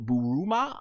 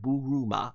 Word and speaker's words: Bulma: Which is kind of very reminiscent of Buruma, uh aka Bulma, if I said right. Buruma, right? I'm still getting these names how to pronounce it in Japanese, but Bulma. Uh nonetheless, also in the Funimation pronunciation.